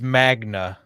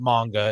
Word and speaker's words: Magna: vehicles guns and stuff it's it's it's Magna Mna Magna Magnus yes so it's the not manga it's not a Japanese uh